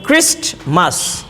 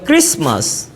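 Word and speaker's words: Christmas: এখানে আছে ক্রিস্টমাস। তাহলে আমরা এই টিটাকে খুব শক্ত করে উচ্চারণ করি ক্রিস্টমাস, কিন্তু নেটিভ স্পিকাররা এই টিটাকে উচ্চারণ করে না, বলে ক্রিসমাস।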